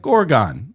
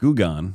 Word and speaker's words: Goergen: Like Gorgon. It cleans gore. Gone.